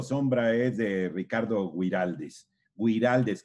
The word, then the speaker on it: Güiraldes: Güiraldes con diéresis en la U para que se pronuncie la U.